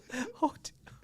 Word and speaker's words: Haut: Hot.